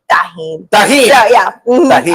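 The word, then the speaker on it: tahini: I say it tahine, and everybody says tahine.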